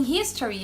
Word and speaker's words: history: Diferentemente da palavra history, porque em history a gente vai pronunciar a letra H, né?